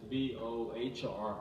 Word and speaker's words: Bohr: And that is B-O-H-R. It's Bohr. It's B-O-R. The H is silent.